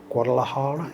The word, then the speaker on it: Guadalajara: Guadalajara, is that, yeah, that ring a bell, yeah? I said it right, yeah.